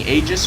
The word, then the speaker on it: Aegis: So I'm gonna be saying Aegis from now on, like the word age and then with an S at the end.